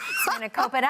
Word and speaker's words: spanakopita: and phyllo, and I'm going to try to pronounce it. Okay. Spanakopita. Something like that. Yeah. Spanakopita.